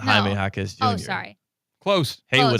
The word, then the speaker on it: Jaime Jaquez: No, not Jaime Jaquez Jr. Oh, sorry. Close. Haywood Highsmith. Okay. I see how you got there. Pronounce the J's like H's in the English language.